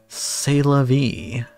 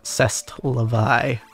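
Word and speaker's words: C'est la vie: I wanted oh well s v as the French say oh sorry I mispronounced it it's uh CEST Levi yes just like my favorite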